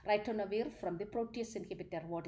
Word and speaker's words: ritonavir: or ritonavir in the ritonavir, that's how the pronunciation, ritonavir from the protease inhibitor.